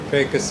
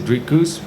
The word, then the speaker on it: Dricus: They said Dricus, which is a lot closer than, well, to be honest, the American folk have been struggling to say my name. It's just because of the R.